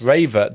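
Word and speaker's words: Rewe: two my local supermarket Rue pronounced raver does sell greetings cards and is open till 10 p.m.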